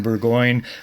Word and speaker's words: Burgoine: Talking with Nathan Burgoine, rhymes with sirloin, he tells us.